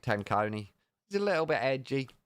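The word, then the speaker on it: Tenconi: Nick Tony. Oh dear, he does get his name mispronounced a lot. I think that's probably the worst. Nick Tony. I like Nick Tanconi.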